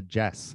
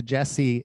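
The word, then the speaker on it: Djesse: records that he's put out are called the jess it's spelled d-j-e-s-s-e and he's done the jesse volume 1 the jesse volume 2 into jesse volume 3.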